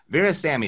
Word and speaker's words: Virassammy: to be here yeah glad to have you Baris Sammy did I say that correctly you nailed it